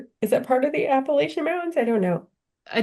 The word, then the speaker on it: Appalachian: that down south, like they say it like how you say it, Appalachian. Well, I East. would say Appalachian until I was in that area and they scolded me and told me Oh, it's Appalachian.